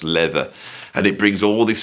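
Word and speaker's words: Läther: So, we have this album, which is looks like it's called Lather, but it's actually pronounced Leather, and it brings all this stuff together.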